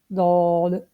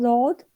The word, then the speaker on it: ض: Let's learn the makhrij of the dod. For the makhrij, it is pronounced from one of the side or edge of the tongue and what lies opposite to it of the upper molar, left or right.